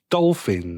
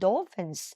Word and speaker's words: dolphin: มา แบบ นี้ นะ ห้าม อ่าน ผิด นะ dolfin อ่า dolphins ถ้า หลาย ตัว ก็ เติม s ให้ เค้า หน่อย นะ นะ เด็ก ๆ